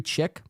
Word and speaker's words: chic: What does very chick mean? Very chicken? Do I look like a chicken? Is that what you're saying? LOL, chick? Very chick. It's pronounced chic.